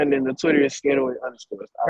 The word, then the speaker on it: SK808: instagram at underscore sk808 it's not sk808 that's not how you say my name it's scared away it's my word you feel me a